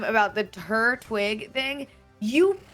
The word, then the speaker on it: Turtwig: Yeah, cuz you Turtwig is right. It's a It's Turtwig. He's a twig. He's a twig on his head.